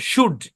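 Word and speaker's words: should: উড তারপর দেখেন আচ্ছা এস এইচ ও ইউ এল ডি এখানে এটা সাইলেন্ট এই শব্দের উচ্চারণ সুড কি উচ্চারণ সুড শুড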